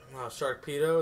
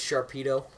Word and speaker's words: Sharpedo: out of it yeah sharkpedo is that his name no yeah his name is Sharpedo damn it that was